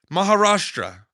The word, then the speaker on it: Maharashtra: Maharashtra.